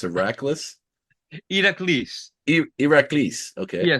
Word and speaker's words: Eraklis: your name correctly it's IRAs Ira okay yeah so the e is a long e and I is also